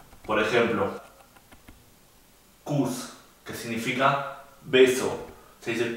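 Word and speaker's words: Kuss: Por ejemplo, kus, que significa beso, se dice kus, corto.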